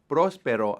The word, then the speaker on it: próspero: And next is Happy New Year, and that is Próspero año. Próspero año. Notice the accent is on the first part of the word, the first syllable on the O.